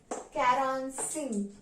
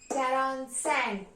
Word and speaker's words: quarante-cinq: And 45 is pronounced as quarante-cinq. Quarante-cinq.